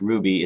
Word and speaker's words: RWBY: Also, RWBY, pronounced Ruby.